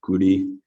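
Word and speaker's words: 끄리: In Korean, this is pronounced guri.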